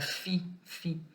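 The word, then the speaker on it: φ: Mas a pronúncia dele é F. Então é fi, tá?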